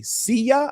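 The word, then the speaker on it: Siya: S I Y A. See youa I think it is.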